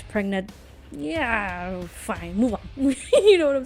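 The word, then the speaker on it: Yeoh: So Michelle, I don't know how to pronounce her last name. Is it Yo? Is Yo? Oh, okay, Yo.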